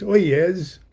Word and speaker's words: Oyez: This is our Oye, or as we pronounced it in those days, Oyez magazine of Haru Raha Lodge.